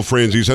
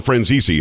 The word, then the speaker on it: Franzese: you said of michael franzis i think you called him friends easy i think you pronounced it more italian than we do now but uh you said